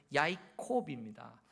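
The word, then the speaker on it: יַעֲקֹב: 히브리어로 야곱의 발음은 야이콥입니다.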